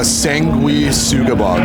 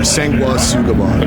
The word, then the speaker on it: Sanguisugabogg: I'm here with Devin from, let's see if I get it, Sanguisugabogg. I already messed it up. Sanguisugabogg. Close. You gotta pronounce the G. All right, give it to me. Sanguisugabogg or Sanguisugabogg.